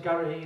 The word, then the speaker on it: Garrity: My surname's Garrity. It's not charity. Just rhymes with charity.